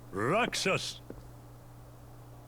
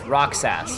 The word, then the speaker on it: Roxas: was you cool boy roxus this man speaks nonsense does he roxus don't let him deceive you uh roxus roxus neither of them pronounce his name quite right it's Roxas it's roxus roxus they're going like roxus roxus